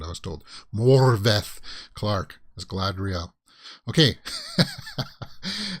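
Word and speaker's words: Morfydd: more morphine oh sorry the d's are pronounced like a th sound i was told morvath clark is glad real okay uh so this issue goes out june 9.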